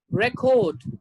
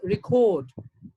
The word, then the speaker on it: record: verb it's protest as a noun it's record as a verb it's record as a noun subject